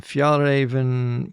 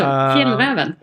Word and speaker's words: Fjällräven: You're on the Fjällräven Polar in 2017. Now, how was my pronunciation on that? It was better than Åkerberg. Yeah, thanks very much. So, Fjällräven. Fjällräven, for anybody who doesn't know, is an Arctic